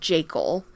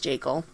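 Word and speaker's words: Jaeckel: Then we have our trio of surfers, Rick, Ed, and Tom, played by Chris Robinson, Peter Brown, and Richard Jekyll. I think it's pronounced Jekyll.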